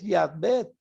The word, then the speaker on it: Yahvé: No es Jehová, sino Yahvé, pero no importa.